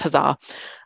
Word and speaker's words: HAZA: So we're actually using this, what we call it HAZA, we pronounce it the Health and Human Services Analytic Workspace HAZA.